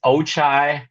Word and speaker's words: Ochai: it's Ochai Abaje. The G is silent. Ochai I had to figure Abaje. that. Yeah, like chai tea.